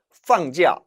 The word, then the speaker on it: 放假: 这是真的还是假的这是真的还是假的 이것은 진짜이니 아니면 가짜이니 이 假는 거짓 가짜일 때는 假 삼성으로 발음하지만 따라 읽어봅니다. 放假放假할 때는 휴가를 내다가 되죠.